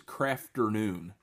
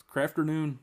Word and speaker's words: Krafternoon: And they are their name's Krafternoon. Get it? Afternoon. But it's spelled with a K.